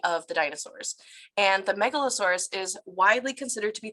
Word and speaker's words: Megalosaurus: And it's pronounced Megalosaurus, and their name comes from a combination of the Greek words mega, which means great, and sauros, meaning lizard.